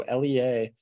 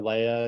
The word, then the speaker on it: LEA: with it a lot of people call us Leah or Leia you know it really doesn't matter to us we we do pronounce it Lea um we today we're going